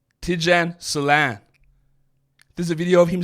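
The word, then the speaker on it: Salaün: Like, some of the ones that people wanted to see, like Tijan Salan, they had the pronunciation as Lawn, lawn. It's not Solon, it's Solan. Tijan Salan.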